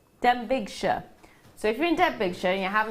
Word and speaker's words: Denbighshire: No, it's not Derbyshire. Denbighshire.